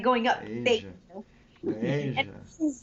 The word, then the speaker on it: Beija: Beija. Just look at the Beija. color. Beige. It's because the E and I, so it's really particular in Portuguese. Beija. Beija. It's like going up. Beija.